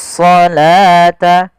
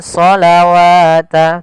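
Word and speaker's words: الصلاة: seperti ini bukan asalata ah ini jangan kita baca dengan asawat tapi di sini kita bacanya dengan asalata wau di sini dianggap tidak ada karena di sini dalam bentuk penulisan rasem uthsmaninya wa aqimus shata bukan shawata tapi shata wa aqimus shata waatuzzakata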